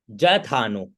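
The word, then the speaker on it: यथा नो: अब आगे देखो, जथानो, ये य में जो लकीर आती है उसको हम ज का उच्चारण करते हैं।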